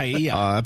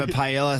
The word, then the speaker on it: paella: I get in trouble cuz I say pronunciation, not pronunciation. Irony. The other one is paella. It's pa paella. Can I have a pella?